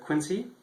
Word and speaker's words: Quincy: in the Boston area I actually live in quiny um I pronounce it Quincy um in this section of quiny is is